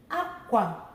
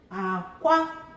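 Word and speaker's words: akwa: So the first one is high, low. Aqua. Aqua means cloth, clothes, dress, outfit, any outfit you wear, okay? Low, high. Aqua means egg.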